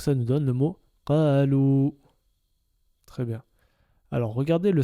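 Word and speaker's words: قالوا: Le alif à côté avec la soukoun ne se prononce pas, c'est muet. Donc ça nous donne le mot qalou.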